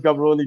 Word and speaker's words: Gaborone: Well, Ian taught me how to pronounce Gaborone the other day. I used to call that Gaborone, but Ian said that's Gaborone.